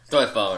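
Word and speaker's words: Soi Fon: Soifan, I think.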